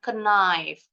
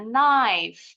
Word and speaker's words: knife: contoh entar gedein dulu ini k-nya enggak bunyi ya silent Jadi enggak boleh bacanya Kif bacanya knif knif Jadi kalau untuk kata